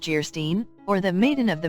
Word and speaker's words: Geierstein: offering it for sale Anne of geierstein pronounced jerstein or the maiden of